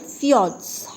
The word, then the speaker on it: fjords: Okay, and you'll find that the long and narrow valley inlets are called fjords. How do you pronounce it?